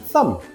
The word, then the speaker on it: thumb: B is silent when it comes after M at the end of a word. Why? from old English Germanic languages. We once pronounced a B, but it slowed down speech, so it was dropped.